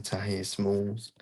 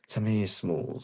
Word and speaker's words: Tamir Smalls: I'm gonna say decision Tahir Smalls. Tamir Smalls, that's what say his name.